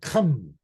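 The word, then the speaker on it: Ham: of the seed of Kim notice I said come because King James did not pronounce the name correctly because in Hebrew it's like from the back of the throat okay according to the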